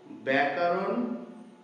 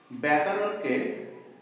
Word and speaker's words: ব্যাকরণ: দেখো আমরা অনেক সময় ব্যাকরণকে বলি ব্যা কারণ আসল শব্দ হচ্ছে ব্যাকরণ দেখো আমি লিখছি ব্যয়